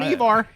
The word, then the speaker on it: Eivor: So first off, you're going to play as Eivor, I believe is how you pronounce his name. Eivor? Yeah, Eivor. Or Hi, I'm Eivor. Yeah, I think that's how you pronounce his name.